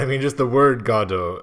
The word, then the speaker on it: Godot: First of all, again, I feel like we've had the Godot, because again, I've heard Godot is the correct pronunciation.